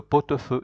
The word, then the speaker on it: pot-au-feu: Because T is a consonant, then A starts with a vowel, A-U is pronounced O. That's why you say le pot-au-feu.